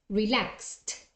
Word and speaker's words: relaxed: on purpose uh so how do you pronounce that verb in past relax at the T relaxed okay let's move on